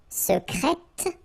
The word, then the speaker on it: secrète: Okay, so I tend to insist a little bit on it just to make you hear the difference between the masculine, secret, secrète. Okay, so you're pronouncing the T, okay?